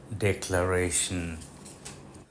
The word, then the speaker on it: declaration: একই নিয়মে ভার্ব হলে উচ্চারণটা ডিক্লেয়ার, কিন্তু যখন নাউন হবে উচ্চারণটা ডেক্লারেশন। ফরাসি ডেক্লারাসিয়ঁ শব্দটা থেকে ইংরেজি ডেক্লারেশন শব্দটা এসেছে।